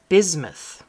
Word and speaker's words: bismuth: The middle word here is bismuth. So the S is kind of pronounced like a Z.